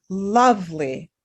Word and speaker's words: lovely: So some words like lovely look like they are 3 syllables, but really pronounce as 2.